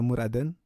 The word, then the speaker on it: Murat'ın: Murat'ın, dibacanya Murad'ın.